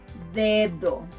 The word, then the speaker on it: dedo: To pronounce this letter like a native, try to push your tongue forward. D. Try saying dedo.